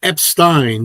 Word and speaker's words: Epstein: Yeah, Ryan Epstein.